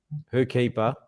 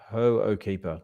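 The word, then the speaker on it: Hoʻokipa: well-meaning um listeners that we weren't pronouncing ho keeper properly we were saying whoe keeper but it's pronounced hoe keeper ho keeper I pronounced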